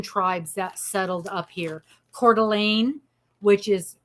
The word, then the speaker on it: Coeur d'Alene: Coeur d'Alene, which is spelled Courdalene, and it's pronounced Coeur d'Alene.